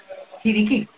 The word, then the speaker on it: Chiriquí: Ayúdame a pronunciarlo. Chiriquí.